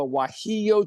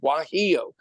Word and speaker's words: guajillo: But Mexicans have a chili called a guajillo chili, spelled with a G, guajillo.